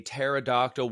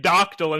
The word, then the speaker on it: pterodactyl: Why are we saying doctyl instead of dactyl? Dactyl. Pterodactyl. I've got all three of you saying it wrong.